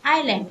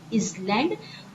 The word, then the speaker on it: island: Okay, don't pronounce it as island. वो island नहीं होता है, as silent है, इसलिए what will pronounce it? Island.